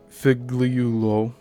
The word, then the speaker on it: Figliuolo: In 1915, Mack Sennett of Keystone hired Michael Figliuolo to perform motorcycle stunts in Chicago city streets. Now that guy's last name is spelled Figliulo, so I am pronouncing it fairly correctly here. Figliuolo later remembered filming a scene in which he